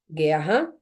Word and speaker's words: guerra: Então vem aqui ó guerra aguenta guu tá seguido de e nas duas gu gu guerra u é pronunciado sim ou não u é pronunciado galerinha não ó gu gu gu